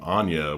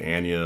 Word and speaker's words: Anya: her name that way I've also heard people announce her name Anya with her present as well so maybe it's it's a matter of choice but if she's going to pronounce it Anya I'm going to pronounce it that way too but she's really great